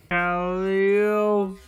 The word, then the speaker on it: Calliope: And yes, I can fucking pronounce Calliope correctly now. Calliope.